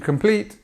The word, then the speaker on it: complete: how many did you complete compete stress on the second part of the word e so how many exercises did you complete You're Expecting someone to